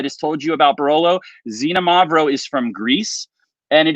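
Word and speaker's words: Xinomavro: it's a different grape so xenomorph is the name of the grape yes you pronounce the x like a z and it is lighter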